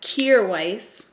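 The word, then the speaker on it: Kjaer Weis: to grab my uh cure Weiss that's how it's pronounced it says it on their Instagram I'm going to grab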